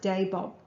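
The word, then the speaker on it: Dabob Bay: I believe the area was called Dabod Bay, pronounced Dabob, but I'm not sure of the spelling.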